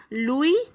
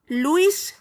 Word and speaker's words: Louis: France का राजा था लुई 16। बच्चों, यहाँ एक बात का खास ध्यान रखना, इसको गलती से भी लुईस 16 नहीं बोलोगे। क्या बोलोगे? लुई 16।